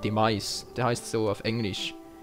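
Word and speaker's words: Demise: lassen habe und zwar heißt der auf Englisch dem als ausgesprochen d e M i s e Mais der heißt so auf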